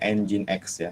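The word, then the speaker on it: nginx: kedua adalah webserver engine.exe ini dibacanya engine.exe ya dulu saya diwaktu pertama kali tahu ini namanya apa gingsul bukan inbc engine.exe nah ini sebenarnya web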